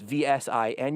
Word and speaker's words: VSiN: It's VSiN. You've seen it before, but that's how it's pronounced if you didn't already know.